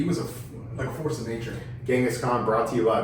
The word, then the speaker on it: Genghis: Supposedly, the correct pronunciation is Genghis.